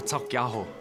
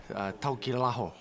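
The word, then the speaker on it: Taukeiaho: Siwa Taukiaho. They normally say Taukilaho.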